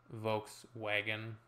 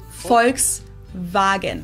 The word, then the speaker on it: Volkswagen: and not Volkswagen so just imagine that it was spelled with an f and V instead folks vagen this literally means people's